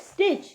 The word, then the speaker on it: stitch: STITCH स्टिच, इसमें जो दरमियान वाला T है, फोर्थ वाला वो हाईलाइट करें, दैट इज साइलेंट।